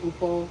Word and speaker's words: upo: It's spelled O-P-O. Oh, but Opal? they pronounce it Upo.